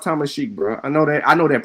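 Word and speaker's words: Tamasheq: I said, nah, it's pronounced Tamashik, bro.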